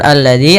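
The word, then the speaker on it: الَّذِي: alladzi Kemudian pada lafal alladzi ada alif lam syamsiyah yaitu alif lam yang kita tulis tapi tidak kita baca lamnya Tapi sehingga ini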